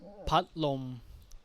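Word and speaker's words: พัดลม: The next one is patlom.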